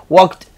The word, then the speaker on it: walked: Acá coge más bien como que pego el sonido de una T acá, entonces sería worked, walked y digamos que climbed. No agreguen esa sílaba extra, eso no va ahí, sigue siendo una sola sílaba, así sea en pasado.